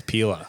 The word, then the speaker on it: Pela: It's not Pela, it's Pela.